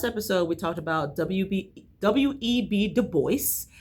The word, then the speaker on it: Du Bois: Du Bois. Now I know you actually pronounce the S, so living and learning, I learned something already.